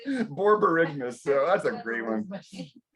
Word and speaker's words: borborygmus: You talk about the medical word I love, borbogymus. Borbogymus sounds in your gut. Borbogymus. So it makes That's sense. a Borborygmus. Huh? Borborygmus. Thank you. Correct pronunciation. She has the correct pronunciation.